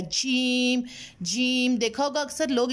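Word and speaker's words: ج: तालू का दरमियान से जीम लेटर प्रोनाउंस होता है, ठीक है। जीम जीम बिल्कुल ज़बान को पीछे करके रखना है, अगर आगे आएगी ज़बान जीम चीम चीम तो ये वाली साउंड रॉन्ग हो जाएगी।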